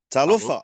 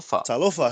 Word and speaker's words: talofa: tal you replace the you replace the H with the F and then you add a t at the beginning tal right okay can you pronounce it like proper tal tala talofa how are you tala